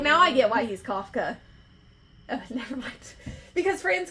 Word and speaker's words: Kafka: Kafka Is what I pronounced it as. Yes. It looks like Franz Kafka.